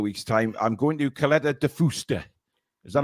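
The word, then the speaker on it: Caleta de Fuste: I'm going to Caleta de Fusta. Is that how you pronounce it, Billy?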